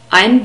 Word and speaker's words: ein: We have the I diphthong in the word ein. We write E and I, but this is pronounced I. A and E, that's how we pronounce the vowels in German, becomes I.